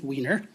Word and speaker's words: Wiener: I represent 5B, and that pronunciation is correct. It is Wiener, so there's no confusion.